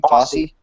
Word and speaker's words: Fosse: I just thought Bob Fosse, how do you pronounce his name? Fosse? Fosse, yeah.